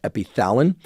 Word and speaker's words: epitalin: Keep in mind that epitalin, again, also sometimes written and pronounced epithalin, is designed to mimic this naturally occurring peptide, epithalamin.